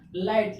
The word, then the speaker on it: light: GHT एक साथ आया वर्ड के लास्ट में तो GH क्या हो गया, साइलेंट हो गया, यानी LIGHT, जिसमें से GH क्या हो गया, साइलेंट, LIT बचा।